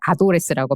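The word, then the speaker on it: ADDress: 구독하는 서비스가 이미 생겼더라구요 어드레스를 바르면 아도레스라고 발음을 해서 잠시 잠시 이렇게 약간의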